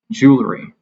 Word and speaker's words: jewelry: Um, I feel it's much more intuitive to pronounce it with the British accent because it has that extra uh it has that extra sound. It has that extra syllable in the middle because of the two extra letters, the L and the E.